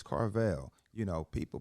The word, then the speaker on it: Carvill: know that's me now is it car veil or carville it's carvale you know people pronounce